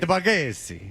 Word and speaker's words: Bargatze: I have to make it super Italian. Nate Bargatze.